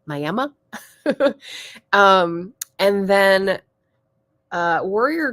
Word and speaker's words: Miami: a place called M apparently they don't pronounce it Miami it's mayama um and then uh